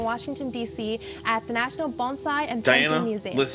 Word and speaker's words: bonsai: Can you tell me a little about Bonsai? Sure. Um, actually the first thing is it's pronounced bonesai, not bonsai.